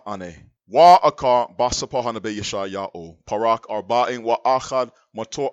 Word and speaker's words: Yashai-Ya'oh: His name is Yashai-Ya'oh, not Isaiah in the filthy heathen language. Yashai-Ya'oh is how you pronounce his name in the pure language.